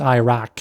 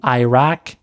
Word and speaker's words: Iraq: sound made at the back of the throat, not a hard K or Q. Iraq, Iraq. I don't know how a Q ended up there in the English spelling because it doesn't align with the sound it makes in Arabic.